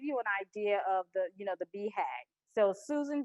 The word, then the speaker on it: BHAG: And so the big, hairy, audacious goal is, it's BHAG is how you say the acronym, but a BHAG is something that technology companies really embrace.